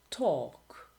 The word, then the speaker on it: talk: Silent L. Salmon, calm, half, would, should, could, talk, walk, and others.